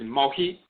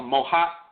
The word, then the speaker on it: Mehit: One of the Coptic, the late Kemet dialect, variations of the pronunciation of Mehit is Mohit or Mohat.